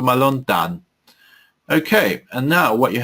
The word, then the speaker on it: מלון דן: So we may say Dan Hotel or Malon Dan in English, but we say it the Hebrew pronunciation, but Malon Dan.